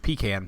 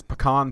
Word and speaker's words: pecan: was a child, but I've been pronouncing it wrong my whole life, apparently. I live in the South, and I grew up calling it pecan pie. Yeah. But I will now refer to it as pecan pie or pecan pie